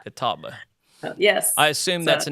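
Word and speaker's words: Catawba: sister I think I am but you actually pronounced it correct it is Kataba Kataba yes I assume that's a Native American word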